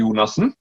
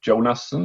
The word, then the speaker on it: Jonasson: going to try it uh using uh the norwegian pronunciation it's purely nassen uh but you can say jonasson is probably the closest so just go just